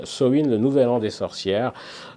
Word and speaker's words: Samhain: Ça se prononce Samhain. Samhain, le nouvel an des sorcières.